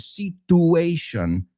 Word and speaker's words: situation: So es como future, nature, muchas veces cuando vemos esa T más esa U en medio de una palabra.